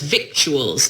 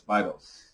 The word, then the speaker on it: victuals: Victuals is how I kept pronouncing it.